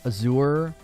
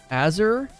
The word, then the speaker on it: Azure: year you should Google how to pronounce azure I know this is hard to believe but you're saying it wrong how do you pronounce that azer it literally looks like Azure oh Azure like a cure azure azer I I